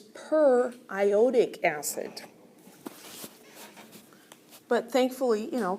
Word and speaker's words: periodic acid: it's not what what no it's per iodic acid but thankfully you know